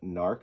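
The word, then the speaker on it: Gnarrk: This is the first appearance of Narc, I believe is how you say his name. There is a G in front of it, but I believe from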